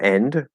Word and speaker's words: end: No, so I would say no for end, but what you might hear, like in fast speech, you might not catch the vowel. It might be a little hard to hear. And so you might be really hearing that N sound very clearly, but not so much the vowel. But the vowel sound is there.